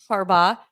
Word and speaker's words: Harbaugh: saying yes awesome uh Jim Harbaugh yes yes give that one more go can we get har harb Jim harba yeah harba they say he's going to be